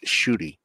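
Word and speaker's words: Ncuti: it's it's it's spelled ncui TI but it's pronounced shoy yeah shoy yes I I in my brain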